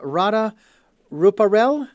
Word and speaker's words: Radha Ruparell: greatest self and uh Rada ruparel I hope I have pronounced that correctly thank you for joining us hi Richard good to be with you and I've got your name pronounced r ruparel you've got it perfectly ah great I'm glad